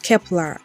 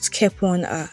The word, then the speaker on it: Kep1er: rather than Dice and Kepler is pronounced as Kepler and not kepona this K-pop companies can't